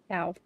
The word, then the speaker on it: Thao: Thao. I was saying it wrong.